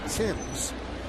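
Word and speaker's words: Marcus Thames: Now, Eric spells his name the same way Marcus spells his name, the former Yankee, but Marcus pronounced his name Timms. Eric says his name is pronounced Thames.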